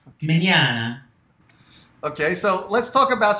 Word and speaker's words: Mignogna: thanks for having me it's manana pronunciation of my last name is italian italiano me Anna okay so let's talk